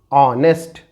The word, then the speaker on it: honest: Here it is honest, honest, and here it is air, air. When GH is silent, जब GH का pronunciation नहीं होता और वो साइलेंट होता है तो कुछ एग्जांपल देखें।